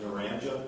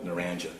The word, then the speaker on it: Naranja: Is that Narranja? That is correct. It's pronounced Naranja? Naranja, yes, sir.